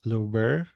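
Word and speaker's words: Louvre: interactive Museum europea Lisa I think it's pronounced as Luber yeah Luber Museum my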